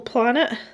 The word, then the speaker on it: planet: when I was small for not pronouncing the T properly. Planet, not planet.